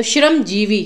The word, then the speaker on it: श्रमजीवी: तो श्रमजीवी, ये इसका ही सही उच्चारण है, तो जीवी दोनों को